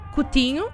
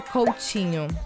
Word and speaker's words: Coutinho: letters we say and the t in portuguese especially in the south and southeast of brazil we pronounce like this like chi instead of t we say chi in general in brazil you will probably hear coaching and with this tea